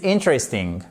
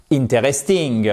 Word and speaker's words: interesting: This book is interesting. OK ? Et pas interesting. Vous voyez l'accentonique qui se trouve ici sur la première syllabe. Interesting.